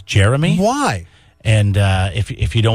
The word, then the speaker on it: Jeremy: You know what bothers me is when people call me Germy. Because my name is not spelled Germy. It's not even close. Mm-hmm. Germy is spelled Jermy. That bothers you. Why? You feel the need to correct people? My name is Jeremy.